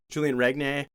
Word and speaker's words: Regnier: back and it's like Tyler Hamlet, JP Auclair, Julian Regnier. How do you say that? Renier, yeah.